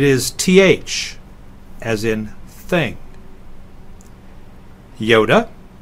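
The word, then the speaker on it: iota: th as in thing Yoda is the short I but it's pronounced as the I in intrigue kapa is the K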